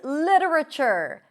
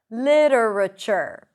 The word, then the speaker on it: literature: You have two ways to pronounce this word. Li with a flap t. Another reduced syllable and chure with a ch sound. Literature. Literature. But you can also say literature. So here we don't have the flap t because we drop one syllable literature. So either literature or literature.